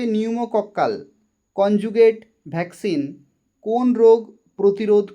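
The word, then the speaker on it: pneumococcal: নিউমোকক্কাল, বানানটা দেখো পি দিয়ে শুরু কিন্তু উচ্চারণ হবে নিউমোকক্কাল কনজুগেট ভ্যাকসিন কোন রোগ প্রতিরোধ করে?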